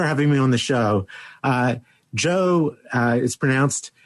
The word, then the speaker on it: Geo: Joe it's spelled Geo and pronounced Joe, Gamow.